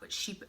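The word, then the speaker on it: Chypre: much like the floral and the Sheep um sheep it's spelled chai pray but it's pronounced sheep um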